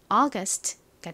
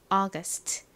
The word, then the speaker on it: August: 발음은 AU는 소리가 나고 G는 기역 소리, U는 소리로 쓰였죠. ST는 S, T 소리가 나니까 연결해보면 August가 됩니다. August.